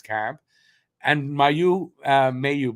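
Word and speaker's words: Mailloux: and my you uh Mayu by the way is pronounced may you is looking good like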